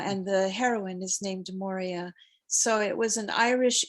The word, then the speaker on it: Maurya: your name you know you often tend to mispronounce it because you know more are more amora but it's actually moria which is you know so